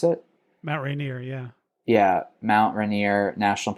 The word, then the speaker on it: Mount Rainier: Is that how you pronounce it? Mount Rainier, yeah.